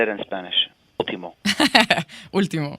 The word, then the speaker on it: Último: Último.